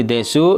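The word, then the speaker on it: です: Walaupun di sini desu dibacanya des ya, seperti itu.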